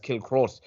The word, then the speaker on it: Kilcruit: I mean, anyone that can pronounce Kilcruit as Kilcrut, it just makes no sense.